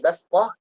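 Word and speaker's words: بسطة: Nah, kemudian bastah yang di juz 8 itu fil khalqi bastah. Itu kita baca sin tapi tertulis sad, seperti itu.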